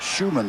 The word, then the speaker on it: Schumann: Another really good block by Derek Schumann there, which is the proper pronunciation of Derek's holding name.